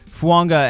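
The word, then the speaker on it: Fuaga: Fuanga, and yes, that is how you pronounce this, just like Tua Tagovailoa. There's that unwritten sound in there.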